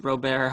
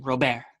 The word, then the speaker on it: Luis Robert: I think that's how you say his name, Robert, not Robert. I think it's Robert.